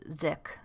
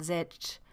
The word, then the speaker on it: sich: consciousness consciousness and sich or actually i think it would be pronounced sick i just looked up the note on this it says it is an allusion to the german ding and zitch which means thing in